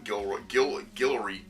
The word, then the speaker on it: Guillory: Guillory. His name's Guillory. I've been pronouncing it Gilroy this entire time.